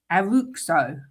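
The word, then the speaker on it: Araújo: pronounced Ronald Aruko.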